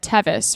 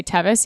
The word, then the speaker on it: Teeuws: wrong and one time the announcer said Tevis rhymes with crevice and ever since then it just kind of stuck and we all pronounce it wrong and we just say Tevis even though it's so